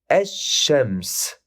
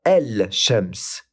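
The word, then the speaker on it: الشمس: Ash-shams. On ne dit pas el shams mais ash-shams. On passe directement du alif à la lettre shin et on rajoute une shadda sur la lettre shin.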